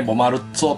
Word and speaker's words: Bomarzo: まあ正確にね、ボマルッツォとか言うらしいで